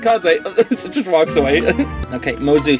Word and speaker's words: Kaze: Thanks, Kaze. I appreciate it. I hold you that, though. You hear? Yes, of course. But my name is pronounced Kaze.